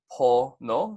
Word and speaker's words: pono: and to act righteously pono is gonna be pronounced pull know so just like aloha fairly easy to say thank you guys can repeat it back with me now that's gonna be pull know all right we're three